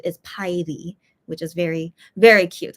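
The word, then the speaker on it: 파이리: a fire Pokemon so yeah but the Korean pronunciation is py which is very very cute I think that's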